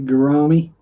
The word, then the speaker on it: gourami: Maybe a gourami, rhymes with pepperami, or salami.